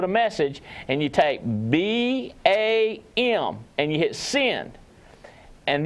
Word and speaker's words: BACM: BAM, you've reached BAM, BACM. It stands for Burlington Alliance Capital Management, but we call it BAM because the C's silent.